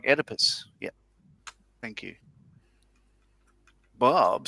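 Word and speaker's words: Oedipus: Julian says, "O E in Greek is pronounced without the O." So like Edipus.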